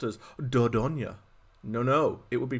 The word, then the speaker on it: Dordogne: British Speaking place this game would not be pronounced as dodonya no no it would be pronounced as dodoin I don't know how I don't know why